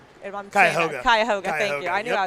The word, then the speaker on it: Cuyahoga: And lane 8, Savannah Cosin from Cuyahoga. Cuyahoga, thank you.